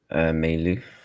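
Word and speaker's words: Mayulu: Lovely finish from um Meu. That's how you pronounce his name.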